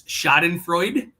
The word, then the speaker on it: Schadenfreude: It's Schadenfreude. I pronounced that wrong.